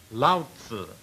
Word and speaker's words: Lao Tzu: Lao Tzu is the way it is pronounced.